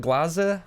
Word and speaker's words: Glaser: just then I go oh it's glaza and he's like what